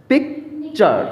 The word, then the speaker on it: picture: আমরা জানি কি শব্দের শেষে যদি আর থাকে সেটা উচ্চারণ হবে না।